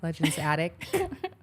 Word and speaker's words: Legend's Attic: Legend's Attic. Did I better Did I put the T again? No, no, no. Better. No, that's good, guys. Apparently, I've been adding a T, but Legend's Attic, they